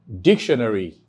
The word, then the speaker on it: dictionary: So it means that the stress placement will be on D-I-C. So, dictionary. You have the next word, judiciary.